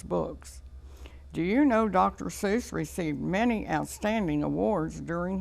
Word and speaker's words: Seuss: to writing children's books he'd like to have his name Seuss pronounced to rhyme with mother Goose do you know dr.